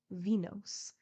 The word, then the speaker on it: Venus: and the other Venus for these read Phoebe F IBI and venos that we may conform to English pronunciation Phoebe cooked Venus scrubbed